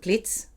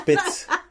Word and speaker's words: Piz: the first time we were going up to Plitz. I really have to think so I say it right. Yeah, you didn't now. You did not do it. Okay. It's Piz.